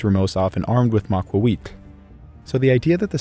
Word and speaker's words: Macuahuitl: And that's why it's correctly pronounced the Macuahuitl.